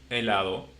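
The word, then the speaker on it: hielo: And the last one the same elo which is like there is no h because like I said again uh there is no pronunciation.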